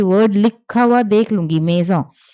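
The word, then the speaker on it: maison: ठीक है, इसकी प्रोनाउंसिएशन मेजॉन है।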